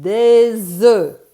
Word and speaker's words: des œufs: And did you notice we do not pronounce the F or the S? Un œuf, here we say un œuf, but des œufs, and you stop there.